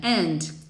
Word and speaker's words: and: Lembrando que quando a gente tem a palavrinha and, geralmente a gente não pronuncia o D do and. Então fica só and management.